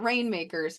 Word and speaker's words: RNMKRS: You say it rainmakers, but you spell it like it doesn't have any of the vowels in it.